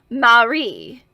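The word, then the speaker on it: Mare: m a r e although it is pronounced with the stress on the last e Marie while I addressed her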